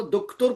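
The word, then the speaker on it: دکتر: कह रहा हूँ कि उसी डॉक्टर को दुख्तुर कहा जाता है फारसी में, मैं यही कह अच्छा रहा हूँ जी, आपसे। डॉक्टर भी कहा जाता है। डा और टा तो प्रोनाउंस कर ही नहीं सकते ना। हम्म। हाँ, तो इसलिए दुख्तुर बोलते हैं।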